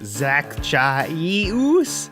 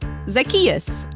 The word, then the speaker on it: Zacchaeus: with that name there zach chaise how is anyone supposed to pronounce that uh like this zacchaeus zac no zazachino what no it's like zach just say it after me zacchaeus zackarecka dingdong all right